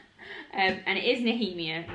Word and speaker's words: Nehemia: minute and so i looked it up the pronunciation it's kale not cow and it is nahimia not nehemiah kale and dorian are still in adult and